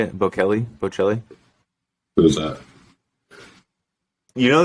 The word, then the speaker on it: Bocelli: Bocelli what is it Andre Bocelli I think that's how you say it Bo Kelly Bocelli who's that you